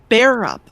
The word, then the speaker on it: Bearup: And it's spelled it's spelled kind of like it sounds Jill and then bear as in you like the animal up but you like it's all one word with bearup. Barup.